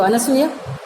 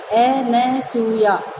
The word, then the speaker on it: अनसूया: ये 2 सखियाँ हैं शकुंतला की, एक तो अनसुईया और दूसरी प्रियमवदा। कई लोग इनका गलत उच्चारण करते हैं, अनुसुईया और अनुसुईया, और शुद्ध शब्द क्या है? अनसूया, जिसमें किसी तरह की असूया माने ईर्ष्या नहीं हो।